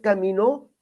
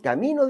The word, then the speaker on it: camino: entrar por la ciudad caminó Perdón camino de un día le puse acento en la o que no viva camino